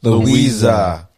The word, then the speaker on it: Luisa: Like literally, Louisa. Luisa.